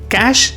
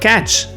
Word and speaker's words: cache: The e at the end is silent. We do not pronounce it. So, where do the other pronunciations come from? Cash is actually a French word.